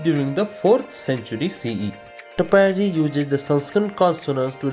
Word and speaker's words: Katapyadi: The number 1 is mapped to the alphabets K, T, P and Ya, which is pronounced together gives Katapyadi, when Adi in Sanskrit means etc.